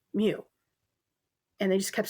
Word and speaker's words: mu: in a sorority and my sorority had a mu in its name. I will die on this hill. It is pronounced mu. and they just kept saying moo and it just it was just it was